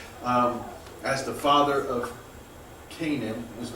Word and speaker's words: Canaan: H is mentioned um as the father of Canaan is how we pronounce that it's not actually pronounced Canan um but we we see that mentioned because